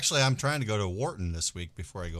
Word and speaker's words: Wharton: It is W-H-A-R-T-O-N. Yes, correct. Yes. Down over there by Victoria. Wharton. Yeah, Wharton.